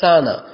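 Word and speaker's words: س: தமிழ் லெட்டரை பார்த்தோம்னா, தமிழ் எழுத்தை பார்த்தோம்னா சானா, சத்தம், சலசல, அந்த சானா எப்படி நாங்கள் உச்சரிப்போம் அதே போல தான் இந்த அதே போல இங்கிலீஷ் லெட்டர் எஸ்ஸை உச்சரிக்கிற போல தான் இந்த சீ உச்சரிக்கப்படும்.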